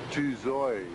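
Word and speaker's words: Tự Do: replica that's magnificent however tudo is pronounced tuo too toos Street this street was called tuo Street we used to know it as tudos Street uh General n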